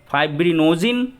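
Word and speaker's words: fibrinogen: फाइब्रिनोजिन, इसका exact pronunciation है फाइब्रिनोजिन, और प्रोथ्रोम्बिन।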